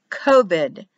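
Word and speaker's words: Kavod: here's a good one cobed written as co-bed but pronounced covid in english amazing so you have k o the dot v pronounces a v e d pronounced kobit and it means heavy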